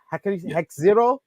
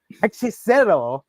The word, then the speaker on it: Hechicero: Hexero? Hechicero.